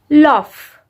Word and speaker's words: laugh: Laugh. Laugh. The spelling of laugh is L-A-U-G-H. But the pronunciation of that word is like L-A-F. Laugh. But it is G-H.